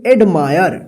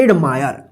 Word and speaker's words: admire: एडमायर। देखिए एडमायर, देखिए क्या हुआ? आई के बाद आर ई है ना लास्ट में, तो एडमायर, मायर, आयर उच्चारण हुआ है ना।